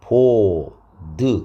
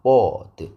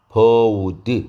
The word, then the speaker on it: board: 자, 그래서 보우자를 넣으면 절대 안 됩니다. 보드. 그리고 그다음에 머드 이렇게 돼야지. 보 보해 놓고 우자를 넣어서는 결코 안 된다고요. 그래서 보드 보드 이렇게 내야 됩니다. 됐습니까? 이렇게 내야지 보드 버우드 이렇게 내선 안 된다고요.